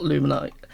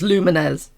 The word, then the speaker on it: Lumines: everyone play Luminaires and I'm pretty sure it's pronounced Luminaires and not luminite lumines people say pretty it's lumines I swear at The Lumineers right